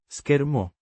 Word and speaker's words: schermo: Pronounced Schermo. with the stress on the. Cher.